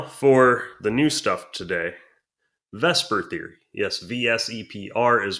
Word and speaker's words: VSEPR: located so now for the new stuff today vesper theory yes vs epr is pronounced vesper it's an acronym for valence shell electron pair